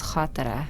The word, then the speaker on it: Khatira: But they couldn't pronounce the kh, so the way my name is spelled, it's Khatira. So they were like, "You're gonna be Khatira." I was like, "Cool, I'll be Khatira." Oh, but that's not how it's pronounced. The way it's pronounced is Khatira.